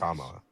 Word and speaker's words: Kamala: How do you say Kamala. Or you can just say Harris. Kamala.